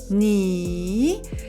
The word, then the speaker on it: 你: Think about your knee, ni, but you pronounce ni.